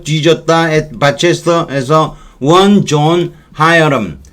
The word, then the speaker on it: Hiram: In the year 1434년 there died 뒤졌다 at 바체스터에서 one John 하여람. 히람이라고 해도 되고 근데 보통은 영어 발음으로는 하여람이라고 한대요. 제가 히람이라고 하려다가 찾아봤죠. 그랬더니 하여람이 맞는 바람인데 그럼 우리말로 옮길 때는 다 히람이라고 옮겨놨더라고요.